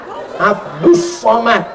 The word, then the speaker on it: Abdul Somad: Tulisannya Abdul Somad, tapi cara bacanya Abdus Somad. Jadi tulisan itu nggak mesti sama dengan bacaan.